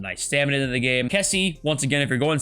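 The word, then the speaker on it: Kessié: How is his name not Kessier, by the way? People always pronounce his name Kessie, but isn't that E literally mean it's Kessier?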